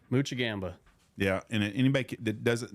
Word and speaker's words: Moczygemba: in heaven dad on your 80th birthday so pronounce your last name muchi Gamba yeah and anybody that doesn't know this young